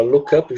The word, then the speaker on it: look up: Esse look up, a gente junta na pronúncia, né? A gente fala look up junto, significa consultar.